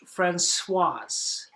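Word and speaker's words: Françoise: same pronunciation except or same spelling but has an e at the end is pronounced Fran swas so Fran masculine put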